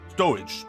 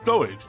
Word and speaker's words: stowage: too much to secure storage storage stowage not storage i understand i feel